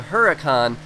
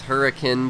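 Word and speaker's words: Huracán: the Lamborghini Horizon Edition, the Huracan, or the Hurricane, or however you want to pronounce it. I think the correct pronunciation is Hurricane, but I believe that is all you need to know.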